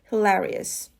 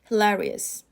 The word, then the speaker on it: hilarious: hear that everywhere hilarious the stress is on the second syllable hilarious hilarious and the example sentence